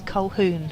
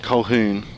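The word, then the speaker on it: Colquhoun: I did ask Lester before how we pronounce the surname and it it's Colehoon. Cohoun.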